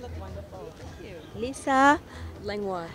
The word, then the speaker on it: Langlois: Langlois. Lisa Langlois. Did I say it right? Perfect. Lisa Langlois.